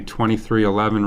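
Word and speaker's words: 23XI: the team name which is going to be 2311 racing and uh the team car number no it's 23 11.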